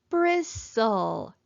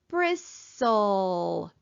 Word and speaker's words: bristle: at our last word bristle let's bracket off our final stable syllable and our e is silence let's cross it out and listen again bristle our t again is silent so let's cross it off